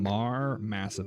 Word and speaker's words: Mharmassif: of Mar Massive. That's MHARMASSIF. Just so you guys. Mar Massive. Just because it's spelled kind of not how you expect.